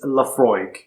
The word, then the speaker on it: Laphroaig: the most important information it tells you how to pronounce it and it's laphroaig i know people have